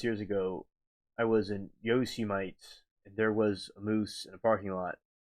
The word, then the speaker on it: Yosemite: It's Yosemite.